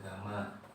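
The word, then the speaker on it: gamma: e kali Delta nah ini dibacanya GMA ya di bacanya Gama artinya itu koefisien muai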